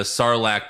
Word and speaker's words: sarlacc: finally find out how boba fett survived the sarlacc pit in return of the jedi good i